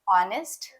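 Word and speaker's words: honest: कि कुछ कंफ्यूजन है स्पेलिंग है एच ओ एन ई एस टी और बोलते हैं ऑनेस्ट तो एच का क्या हुआ स्पेलिंग है सी यू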